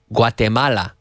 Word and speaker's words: Guatemala: Or do we have anyone from Guatemala?